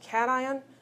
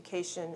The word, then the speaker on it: cation: Those are pronounced cation and anion. It isn't a cation and an anion.